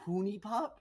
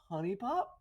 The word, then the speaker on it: Honey Pop: Wayne is pronouncing it Hooney Pop instead of Honey Pop.